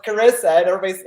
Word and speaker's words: Charissa: And well, it's Carissa, and people will read it and they say it's Charissa. I would say it's like charisma. How do you say charisma? Charisma. So it's like Carissa, but people say, they'll see it, they read it, and they go Charissa.